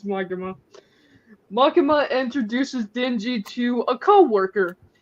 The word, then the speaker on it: Makima: I'm actually gonna say her name right it's makima right yeah I'm proud of you no I'm going back to it it just doesn't sound right so mikima actually uh introduces to YouTube I know it's magma makima introduces dingy to a co-worker which um is